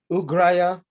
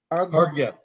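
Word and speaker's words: arghya: for washing his feet, ugraya. Am I saying it right? No, Argya. argya, thank you.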